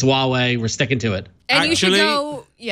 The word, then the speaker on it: Huawei: But that is an official video from Huawei with their pronunciation, Wahwey. So everyone complained that we're mispronouncing it. It's Huawei.